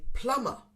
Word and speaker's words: plumber: a silent letter sound the b is silent many people say plumber plumber but again we don't need to use this we say plumber plumber we ignore the